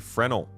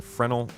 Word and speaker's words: Fresnel: Last up is the Volt LMG Fresnel. I learned from a very helpful Redditor that the S is silent in Fresnel.